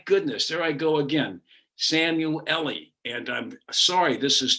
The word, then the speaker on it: Szamuely: I mean, the thing to remember it's Hungarian name, so the Z is silent. That's all. The Z is silent, so that you just have to ignore the Z.